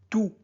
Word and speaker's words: tous: Bon, quand tout est un déterminant, on ne prononce pas le S, on dit tout.